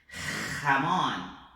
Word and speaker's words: jamón: Então tanto la Re como la Rota é esse som aqui de garganta arranhando a garganta, tá? Então vamos lá, olha só, observa esse som. Gente, gitano, jamón, jazmín, ok?